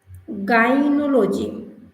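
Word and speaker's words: gynecology: এখানে একটু যদি খেয়াল করি জি ওয়াই গাই, এখানে আবার জি ওয়াই গাইনোলজি, উচ্চারণটা হলো আমার এখানে গাইনোলজি।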